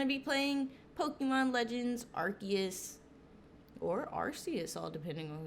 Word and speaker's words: Arceus: on who you are some people say arceus in fact i actually used to say arceus but now i say arcus because people were saying i was saying it wrong like my whole life so you know how